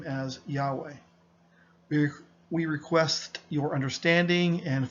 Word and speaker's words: Yahweh: During this reading, we will be pronouncing the divine name as Yahweh.